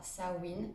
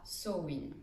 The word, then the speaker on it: Samhain: Aujourd'hui, je voulais te parler du sabbat de Samhain, qu'on écrit Samen mais qu'on prononce soit Samhain, soit Samhain.